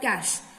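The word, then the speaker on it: cache: बीच हमारी आती है कैश memory it is pronounced as कैश memory कैशे memory नहीं है कैश मेमोरी ये है हमारा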